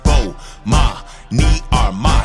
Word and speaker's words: Bomani Armah: I'ma say my name so you can pronounce it. Bomani Armah.